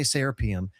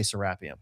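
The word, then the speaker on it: Serapeum: Americans say serapium. Egyptians say sarapium. I've been living in Egypt for three years. They say serapium. I say sarapium.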